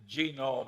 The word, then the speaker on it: genome: mentioned that one book genome I have a hell of a time putting the accent on the first syllable but that is a